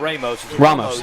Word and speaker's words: Ramos: Ramos Ramos last night been pronouncing that incorrectly not Ramos Ramos thank you Ramos uh punted very well